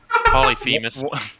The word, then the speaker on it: Polyphemus: would give me peace they know like all polyphemus you're going to have to get right holly phallus she's got two dicks polyphemus one dot one eyed awfully cyclops name interesting one eye six syllables jesus i mean uncultured man would think